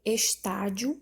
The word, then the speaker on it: estádio: A letra C, estádio, a sílaba tônica é o tá e ela também é uma paroxítona.